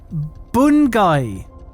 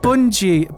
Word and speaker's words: Bungie: It's a difficult one to pronounce. Bungai. Bungai. Interesting. Bungai. Well, that's you screwed. Bungie.